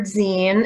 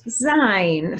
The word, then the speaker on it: zine: people see the word zine and think it's pronounced sein so if you did too don't worry you're not alone but it's actually pronounced zine as in magazine or fanzine scenes are similar to